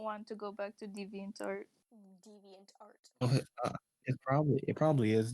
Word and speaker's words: DeviantArt: Does anyone actually pronounce the T in DeviantArt? Oh, wow. Well, Wow. never pronounced the T.